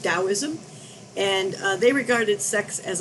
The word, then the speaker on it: Taoism: know it starts with the t but it's pronounced taoism and they regarded sex as a form of